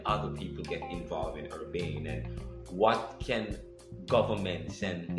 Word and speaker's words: Urbane: future of Urbane, or how do you pronounce it? Urbane. I think I'm saying it right? Yes.